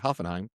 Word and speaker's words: Hoffenheim: That's how you say it, Hoffenheim.